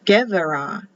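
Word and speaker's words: גבירה: So there's queen, givara, givara, gevara, and you pronounce it with a V. Gevara, gevara.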